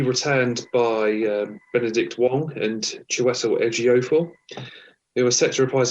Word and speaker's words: Chiwetel Ejiofor: You've done a blinding job at pronouncing the actor there, Chiwetel Ejiofor. Oh, Chiwetel Ejiofor.